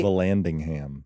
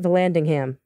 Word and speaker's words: Vallandigham: Vallandigham. Oh, is that how you say it? Vallandigham.